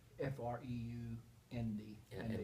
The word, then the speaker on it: Freund: F-R-E-U-N-D. F-R-E-U-D. F-R-E-U-N-D. Yeah, And the the EU is Freund. like an O-Y.